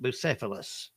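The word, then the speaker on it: Bucephalus: Busilus. What was the name of Alexander the Great? Remember him? He had a famous horse. Was it Trigger, Sea Basket, Pegasus, or Bucilus?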